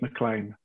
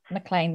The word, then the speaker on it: McLean: it, because there's so many different ways of pronouncing and saying it. But for me, it's Mclean. Mclean. Well, we'll stick with Mclean.